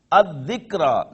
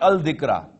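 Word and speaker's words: الذكرى: alif lam to this, it would be ad-dhikra, not al-dhikra. L will not be, lam will not be pronounced.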